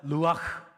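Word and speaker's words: רוח: 하나 더 있는데요 따라해봅시다 루아흐 루아흐이 흐 발음이 이렇게 안에서 가래뱉기 직전처럼 흐 해야 되거든요 한번 따라해 볼까요 루아흐이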